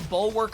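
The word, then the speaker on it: Bulwark: we do have the bu workk of light you don't pronounce the a which is weird to me the English language is stupid uh Divine Shield also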